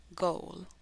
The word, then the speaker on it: Google: tenemos dos vocales adyacentes Cuál es el sonido largo de la O podemos contar el abecedario nuevamente en en o por eso decimos Google verdad Esa a no la